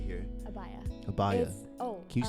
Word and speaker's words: abaya: this garment right here abaya abaya oh can you spell bio a-b-a-y-a so the a is silent in the in the beginning abaya oh oh you said a-bye okay i thought you